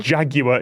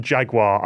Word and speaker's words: Jaguar: Oh, we've got an NFL question for an all-British panel as well, and we're all pronouncing it I know. jag-yu-er instead of jag-wahr, and it's going to annoy so many NFL fans.